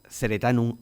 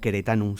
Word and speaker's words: Ceretanum: nos quedemos con el nombre Ceretanum o Ceretanum, según se pronuncie, latín hispano o latín clásico.